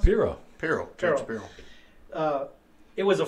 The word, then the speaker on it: Pirro: How do you pronounce it? Pirro.